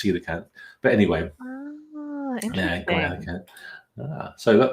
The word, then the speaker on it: coelacanth: Sea creatures, and I thought it was pronounced coelacanth, but it's not. It's actually pronounced coelacanth.